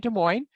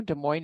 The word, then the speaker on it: Des Moines: case you didn't know Des Moines is two words and there's an s on each and a word each word we do not pronounce the S but they are there Iowa was when it